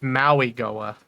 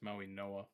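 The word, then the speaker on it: Mauigoa: Or is it It's Maui Goa. No, it's Maui Noah. Yeah, you're right. Maui Noah.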